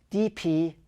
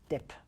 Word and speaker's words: dp: dimensions is the density independent pixel pronounced DP or dip DP is an abstract